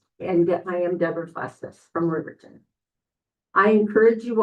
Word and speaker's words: Bustos: Deborah Bustos? My mother-in-law always said it's Bustus Run Justice. Okay, Bustos. Thank you. That's fine, it's pronounced. And I am Deborah Bustus from Riverton.